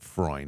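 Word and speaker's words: Freund: nice chat with Peter fre that's how you pronounce it fre it's F re n d uh who's the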